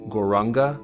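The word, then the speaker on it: Gauranga: of the exhale, say the mantra Guranga in 4 syllables. Gor, Ra, Ga.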